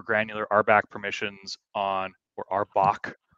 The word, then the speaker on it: RBAC: rback permissions on or arbach someone told me it's called Arbok and not arback so anyway that's that's